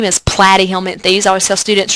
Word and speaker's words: Platyhelminthes: If we look at flatworms, their fancy name is Platyhelminthes. I always tell students, just remember plat rhymes with flat, right?